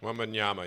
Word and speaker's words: Wembanyama: Wembanyama, yep.